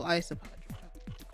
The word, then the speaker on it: Isopadre: They pronounce it Isopod, so Isopadre. And his cool little suitcase of plushies.